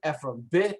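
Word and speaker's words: עפרון: That's how you say Ephron, Ephron, with Ephron. Okay, and you can see the name Ephron is spelled Ayin, Pei, Resh, Vav, Nun.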